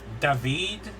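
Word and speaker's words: Daveed: I know that, I'm pretty sure his name's pronounced David, but I know he's a big musician turning actor because he was big in Hamilton.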